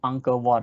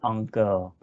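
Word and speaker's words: Angkor Wat: pronounced uncle ward right the british or americans cannot pronounce on girl because uh you know they they use their own vowel sound uh this sound like encore like that anchor one so they don't have the all sound i guess so cambodia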